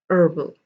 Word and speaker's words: herbal: was honor honest air herbal you do not pronounce the h over here at all the h over here